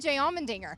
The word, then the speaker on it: Allmendinger: It also rhymes with his last name, which is fitting for us, Allmendinger.